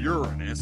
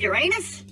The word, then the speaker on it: Uranus: So, any more terrifying visions of Uranus? Non-stop. You know it's Uranus, not Uranus, right? Maybe here on Earth, but on Pandora, we use its original, funnier pronunciation.